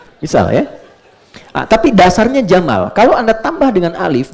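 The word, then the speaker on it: جمل: Saya notis ya pendek bacanya. Jamal bukan Jamal. Jamalun unta. Jamal ganteng.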